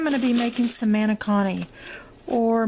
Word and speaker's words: manicotti: to be making some manicotti or manic dot is the way it's pronounced in Italian so we're gonna fill